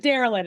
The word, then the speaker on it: Darilyn: I just want to make sure I pronounce it's Marilyn, but Darilyn. And you said yes. So if anyone think Marilyn, put a D in front.